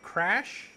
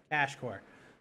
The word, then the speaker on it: Cash Core: I think it was Crash? Cash. Cash Core.